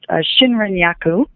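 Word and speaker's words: Shinrin-yoku: So it's a Japanese practice that is pronounced Shinrin-yaku.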